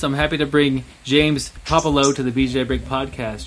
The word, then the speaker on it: Puopolo: Yeah, it's Puopolo. Puopolo. So, yeah, no, not Pope or Poop or anything like that.